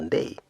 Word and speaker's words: Ndii: What did Ndi say? Actually, it's pronounced Ndei, but nobody knows that. Very few know that.